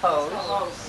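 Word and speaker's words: Hoose: say his name who I'm sure he says hose yes thank you um he has spells it with two o's which always throws me and he's written wonderful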